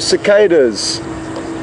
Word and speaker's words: cicadas: Colleen's just asked, good morning Colleen, what insects we can hear in the background, and they are cicadas, or cicadas, as you may pronounce them in America.